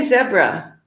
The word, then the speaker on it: zebra: So zebra in the US and then zebra in many other countries.